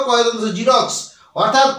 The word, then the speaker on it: Xerox: এক্স বর্ণটাকে এক্স বর্ণ দিয়ে শুরু হলেও তার উচ্চারণ হয় জেড এর মত নিশ্চয়ই বুঝতে পারলে তাইতো এখানে এক্স বর্ণটা দিয়ে জেরক্স বর্ণটা শুরু জেরক্স যে ওয়ার্ডটা এই ওয়ার্ডটা কিন্তু